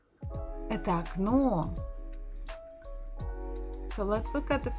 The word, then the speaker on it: окно: If it is stressed, we pronounce it as it is, O. But if it's not stressed, we say it as A.